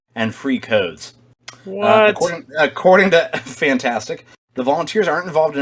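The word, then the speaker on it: Fntastic: kotaku is reporting that i'm gonna just pronounce it uh as the word fantastic but it's spelled f and tastic uh which are the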